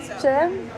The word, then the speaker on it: Tjin: Chin?